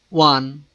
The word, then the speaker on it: one: These words university, union, one begins with a consonant sound, that of you or wa.